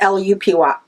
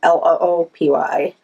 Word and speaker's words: Lupy: But it's spelled Lupysti, Stitcher, but it's Lupy instead of Loopy.